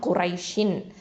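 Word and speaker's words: قريش: அடுத்தது காஃப் தும்மா கூ, இது வந்து ஹெவி லெட்டர் தஃப்ஹீமாக உச்சரிக்கணும். ரா ஃபதா யா சுக்கூன் ரை, இது வந்து யாவுல் லீன் குரை. அடுத்தது ஷீனில் கெசரத்தைன் இருக்குது, ஷின் அப்படின்னு இருக்கும் இல்லையா, குரை ஷின்.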